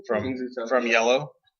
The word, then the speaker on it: IELLO: from Yellow. ILO. It's IELLO. It's French. It's yellow.